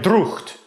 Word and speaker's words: drought: That's a holdover from the time when that GH in drought actually did something, and we pronounced it like drucht.